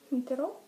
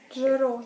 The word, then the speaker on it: fingerò: Finterò? No. Это fingere, no fintere. Fingere. Fingo. Ma fingo è настоящее время. Ero a canzagne. Fingerò. Не так произносится. G. Fingerò.